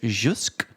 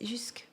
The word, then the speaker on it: jusque: This until is jusque or something.